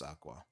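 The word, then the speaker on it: Aqours: love live aurus Aqua I call them aorus because that's how it's spelled but apparently it's Aqua they were they were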